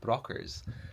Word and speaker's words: Brochers: Just did a bit of reading on Burghead, and apparently the locals here are called Brockers. So that's spelled Brochers.